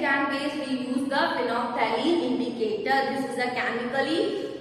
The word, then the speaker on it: phenolphthalein: It is called phenolphthalein. Read this word pronunciation correct.